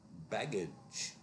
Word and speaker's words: baggage: Baggage, uh this will actually be the subject of my next pronunciation video. The G is pronounced j as in jazz.